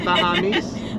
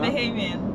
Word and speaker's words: Bahamian: How do you say that, Bahamese? No? Bahamian.